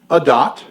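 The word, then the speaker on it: עדת: actually spell it a-d-a-t just remember that this is the way it's pronounced a dot okay it's from the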